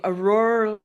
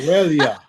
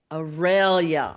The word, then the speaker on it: Aurelia: Auror. Auror. Aurelia. How do you say it again? Aurelia. Aurelia.